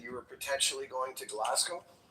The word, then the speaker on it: Glasgow: Oh, I heard in that you were potentially going to Glasgow. Hello. We're going to Glasgow. Okay. Okay. First, let's work on how the locals say it. It's Glasco.